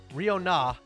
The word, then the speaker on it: Riona: Scottish name, Riona is the pronouncing.